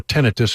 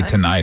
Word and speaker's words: tinnitus: I was wrong. Tinnitus. Tinnitus. Tinnitus. Right. Or if you want to hear it slowly.